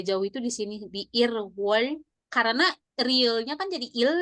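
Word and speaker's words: 일월: Ilwol. Dibacanya Irwal. Irwol. Irwal. Irwol. Realnya masuk ke wol.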